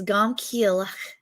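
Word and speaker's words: גם כי אלך: Now, if you want to know how you say it in Hebrew, that whole first phrase, even though I walk, is gam kielech.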